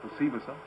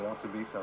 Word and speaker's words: Osibisa: The group, I think it's pronounced Osibisa. Some people might say Osibisa, but I think it's called Osibisa.